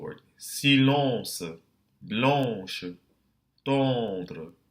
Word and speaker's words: tendre: Silence, blanche, tendre. Be careful not to aspirate that T.